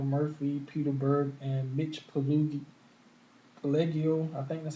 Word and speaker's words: Pileggi: See it is right there, and it stars Michael Murphy, Peter Berg, and Mitch Pileggi. I think that's how you pronounce it.